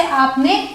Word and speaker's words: are: अब अगला देखते हैं ARE, इसे हम प्रोनाउंस करते हैं आ या फिर आर। फर्क क्या है? वही ब्रिटिश और अमेरिकन का।